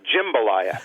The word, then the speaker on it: jambalaya: Well, the thing is, there are people who say it like you say it, but you're vastly outnumbered, and the people who are in the food business that I know and all of the major dictionaries of English, the ones that I think matter for U.S. pronunciation, all record jambalaya as the standard pronunciation.